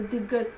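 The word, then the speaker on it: 디귿: कियोक को हम क या ग की तरह प्रोनाउंस करेंगे। नियन को हम न की तरह प्रोनाउंस करेंगे और दिग्गत को द की तरह।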